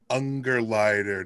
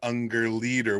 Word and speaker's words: Ungerleider: We had legendary sound designer Howard Ungerleider, not Ungerleader, which we recorded the episode in portions, and I had his name wrong, and I want to apologize to Howard.